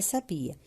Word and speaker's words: sabia: Então, vocês iam separar a palavra sabia. Sabia. A sílaba tônica é no bi.